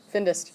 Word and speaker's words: findest: Findest.